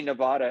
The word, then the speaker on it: Nevada: uh know that part of it is in nevada and part of it is in california by